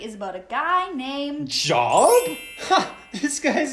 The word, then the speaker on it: Job: No. His name is Job. But you're right, it is spelt like Job.